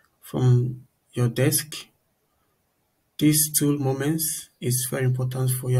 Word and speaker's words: Momence: we will be talking about a tool called moments moments is spelled m o m e n c e